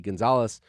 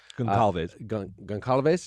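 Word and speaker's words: Gonçalves: The four young people died: Madison Mogan, Kaylee Gonzalez, Goncalves. Is that how that's pronounced?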